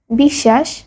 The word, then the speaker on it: বিশ্বাস: যেমন তক শশুর স্বাধীন শব্দের মধ্যে বা শেষে বফলা যুক্ত হলে সেই ব্যঞ্জনে দ্বিতীয় উচ্চারণ হয়। যেমন অশ বিশ্বাস পক্ষ।